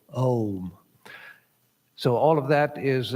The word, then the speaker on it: Om: But in English and in Sanskrit, it's considered to be a diphthong. That means that during the pronunciation of the vowel, the position of the mouth changes. So, Om.